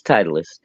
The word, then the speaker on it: Titleist: it is ah okay or that sty it's Titleist yeah Titus it's tiating it is spelled TI yes it is tius okay it's